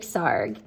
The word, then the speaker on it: Sarg: Anthony, or Tony Frederick Sarg. Sarg rhymes with arg.